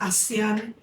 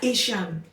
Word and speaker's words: Asan: So it's about a girl her name is Asan. Some people pronounce it as Asian but no.